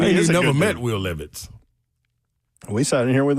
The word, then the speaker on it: Levis: Not Levis, Levis. Make sure to tell me I hated him. Say it right, Slay. I just said it was Nathaniel. I ain't got nothing to do with hating him. Yeah, we don't hate Will Levitz. It is Levitz.